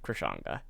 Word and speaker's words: Krishanga: It's gonna be the exact same name, Krishanga, that is how you pronounce it, Krishanga.